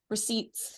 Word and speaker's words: receipts: Receipts. Yep. I'm gonna go find those. You're pulling the you're pronouncing the P in that.